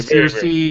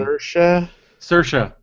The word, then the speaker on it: Saoirse: Yeah, very, Circe, or wait, we figured out how to say her name. Saoirse.